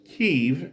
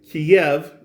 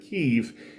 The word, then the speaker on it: Kyiv: And I should tell you that it's Kyiv in Ukrainian. Kiev is a Russian pronunciation of the city's name, but Kyiv is the actual Ukrainian pronunciation, and the way it